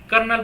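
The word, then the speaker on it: colonel: और कर्नल है ना इसको हम क्या बोलते हैं कर्नल प्रोनाउंस करते हैं ठीक है कर्नल एलेक्जेंड्रा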